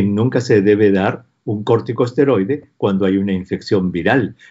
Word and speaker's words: corticosteroide: Entonces le debo preguntar, doctor, ¿qué hay con la interacción entre la dexametasona, un corticoide, ¿cómo se dice? Cortiesteroide. Corticosteroide o esteroide, sí.